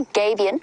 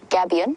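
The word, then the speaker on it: gabion: this is there it's known as a gabian or gabian depending on your pronunciation and it is deliberate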